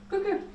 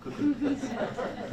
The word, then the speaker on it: Koekoek: And say warm welcome to Koekoek. Thank you very much. Pronunciation was very well of my last name, Koekoek.